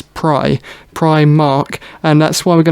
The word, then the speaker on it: Primark: we were going to premark premark Primark see now it really bugs me here cuz the correct pronunciation of that kind of word is pry pry Mark and that's why we're